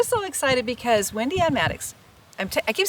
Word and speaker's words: Mattox: And Well, we're so excited because Wendy Ann Mattox, I keep saying her full name so that you'll find her when you're looking for her. But 2 Wendy, T's, Wendy, Mattox.